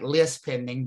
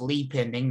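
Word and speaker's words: lis pendens: one called a lead pending it looks like list pending but it's pronounced lead pending not that you really care and that that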